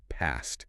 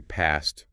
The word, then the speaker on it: past: If you're American, you might say past rhyming with man.